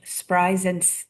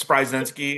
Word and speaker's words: Spryzenski: And on our podcast today, we have Judge Spryzen. Excuse me. I just asked how to say it right. And then I We talked about this before we started recording. My name's Spryzenski. It's brutal.